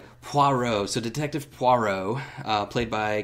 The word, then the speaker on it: Poirot: many different ways Alex you said it right Poirot so detective Poirot played by Kenneth Branagh he